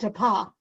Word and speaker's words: DePass: The S is silent, DePa.